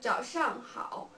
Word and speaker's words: 早上好: Yeah, we pronounce it 早上好, 早上好.